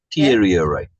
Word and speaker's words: deteriorate: Oh, second syllable. Yes. Deteriorate.